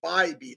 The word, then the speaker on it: Bybee: He actually corrected me on his pronunciation of his name. So I believe it's Tanner Bybee.